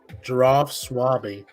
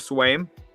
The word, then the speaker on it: Swaim: We have Giraffe Swaby, right? That's how you say it. The extension with the Titans for 1 year. Oh, Jeff Swaim. Just Swaim. My apologies.